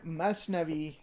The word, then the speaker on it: Masnavi: The word Masnavi is actually an Arabic word, Mathnawi, but in Persian the tha is pronounced as an S, and it consists of rhymed doublets.